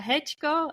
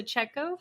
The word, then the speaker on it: Checko: Karina or Katarina um my name is hko um in my polish pronunciation or ccho for those English speakers um it's really a